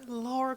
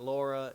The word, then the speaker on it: Lara: like I always put Lara Croft like with a U and she so humbly put put in the comments section on one of my videos it's actually Lara it's not Laura it's I mean it's